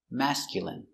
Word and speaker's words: masculine: mascu mascu i mascul m masculine masculine masculine stress on first syllable mask masculine masculine masculine